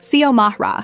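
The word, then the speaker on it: Xiomara: My name is Ziamara. Yeah, it's Spanish. X I O M A R A. I get that it looks intimidating at first, but it's not rocket science. Sio Mahra.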